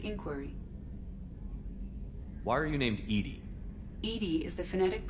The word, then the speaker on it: EDI: have a specific inquiry why are you named Edie Ed is the phonetic pronunciation of e that is an acronym for